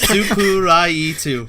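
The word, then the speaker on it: 스프라이트: That was my favorite thing going to Korea is when I went and found a Sprite bottle and Sprite is 5 syllables. Supulite. What? Supuraitu.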